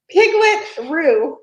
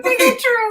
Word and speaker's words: Piglet Roo: Piglet Roo. Oh, Piglet Roo. Oh my gosh, we always call you Piglet True. We've been saying it wrong all this time, and nobody ever corrected us.